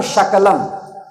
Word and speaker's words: शकल: तो सकल को तालु से उच्चारण करते शकल, तो सकल का मतलब होता है सब, और शकल का मतलब होता है टुकड़ा।